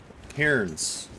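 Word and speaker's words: cairns: And I was like, "Oh, it's kind of like you're saying the name Karen except for you're saying it with one syllable instead of two.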